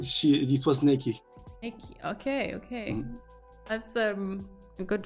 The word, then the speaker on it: Nikki: Because I thought it's Nika. I'm glad that I know how to pronounce it. She said it was Nikki.